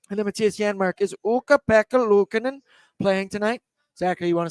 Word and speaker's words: Ukko-Pekka Luukkonen: And then Matthias Janmark is Ukko-Pekka Luukkonen playing tonight. Zachary, you want to say his name one time? Ukko-Pekka Luukkonen.